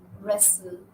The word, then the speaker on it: wrestle: in the upcoming words you'll see that W is silent in the final position in the initial spelling sequence WR R and sometimes the initial spelling sequence w h so let's look at